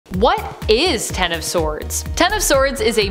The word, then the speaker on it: X of Swords: Technically, it's pronounced Ten of Swords. This is because the name of the event is in reference to the tarot card of the same name.